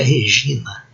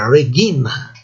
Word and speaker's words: regina: A consoante palatal existe em italiano, em português. São consoantes formadas por um processo de palatização do latim para o português. Mas em português, em latim, não existe. Então não é G, não é Regina, é Regina, não é Nhe, não é Magnus, é Magnus.